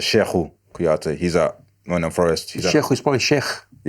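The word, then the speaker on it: Cheikhou Kouyaté: We pronounce it Sheku Kouyaté.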